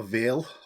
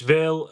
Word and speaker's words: Vale: And what about a Vale or Vile, depending on how you say it? Yes, Vale. Vale is a bounty hunter who is originally tasked to hunt you down on behalf of Slayero.